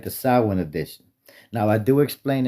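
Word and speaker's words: Samhain: the sin edition. Now, I do explain it to this because I'm mindful not everybody knows the language we speak. Now, it's pronounced sin, not Sam Hayne.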